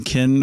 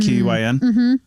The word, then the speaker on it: Qin: So his name, we were saying kin or something like that, Q-I-N or Q-I-N. Q-I-N. It's actually pronounced Qin. Okay. Yeah, Q-I-N is pronounced Qin, and this is the Qin dynasty, and that becomes China.